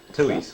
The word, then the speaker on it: Tooheys: And that is the way you pronounce that. Tuhuis. It's Oh, is it? Two. Tooheys.